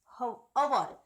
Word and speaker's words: hour: Here see that hour. When we pronounce this word, we don't pronounce a hour.